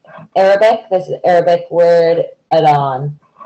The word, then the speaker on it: adhan: This is Arabic word adhan. The H is silent.